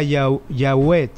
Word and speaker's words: Yahweh: Jehová es el derivado de una palabra que originalmente se pronunciaba Yahweh. En arameo se pronunciaba Yahweh, que luego en griego se pronunciaba Yahvé, y en español Jehová.